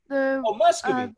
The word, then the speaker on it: Muscovy: Professor, you'll have to help me pronounce the name, but Muscovy? Praskovia? No, Muscovy. Muscovy, Muscovy, right.